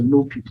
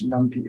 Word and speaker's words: NumPy: import okay numpy okay some people pronounce the new people it's okay I always pronounce as numpy okay so Namby is